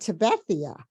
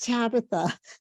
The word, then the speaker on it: Tabitha: And I said, could you tell me how to pronounce, I said, is it Tabethia? Right, That's- right. I said Tabethia. And she goes, no, it's Tabitha.